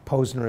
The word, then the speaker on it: Posner: thought so in some sense Posner and that Posner is how his last name is pronounced is is just an emblem for a